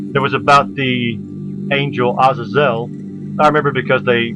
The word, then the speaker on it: Azazel: by the way actually has a character called Azazel which is why I put him here because